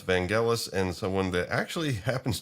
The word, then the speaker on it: Vangelis: It's just I used to pronounce it Vangelis until I learned otherwise.